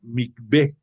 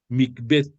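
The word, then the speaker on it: מקווה: estos actos de ición se pronuncia micb es m i q v e H micb cuando había un mbet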